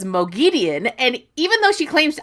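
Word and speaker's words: Moghedien: to find out she's a Mogad Dean person. I couldn't stand talking to her about the series. She said she liked her pronunciation, which was lame. Then I bought her hooked on Wat Phonics. Now she says Mogian.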